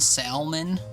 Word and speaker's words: salmon: Uh, got a friend that pronounces the L and salmon.